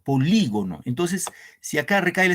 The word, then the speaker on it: polígono: les pregunto ahí nomás la palabra polígono En cuál es la sílabas vale el acento dónde van en cuál es la sílabas tienen la mayor fuerza de voz y profesor qué dicen lo demás baila ahí claro muy bien en la i aquí recae el acento polígono Entonces si acá recae